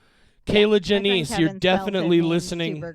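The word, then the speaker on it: Kier-La: is it actually pronounced Kayla Kayla yeah it's spelled k i e er- l a but apparently it's pronounced Kayla she even talks early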